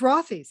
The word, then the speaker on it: Rothy's: and get ready to be asked are those rothies it really happens in real life plus get